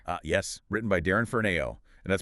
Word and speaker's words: Ferneyhough: Uh yes, written by Darren Ferno and that's pronounced Ferniehoff, just so everyone knows.